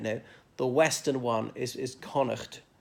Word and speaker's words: Connacht: the Western one is Connacht pronounced Connacht not court I've heard some English people who think that it's a silent GH in that word but it's not and this connemara is